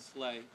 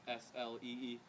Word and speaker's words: Slee: And then Slee, because his last name is Slay, and it's spelt S-L-E-E. But everybody calls him Slee if they don't know him.